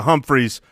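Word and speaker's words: Humphries: with getting back to Humphreys pronounced with an umphreys if both if both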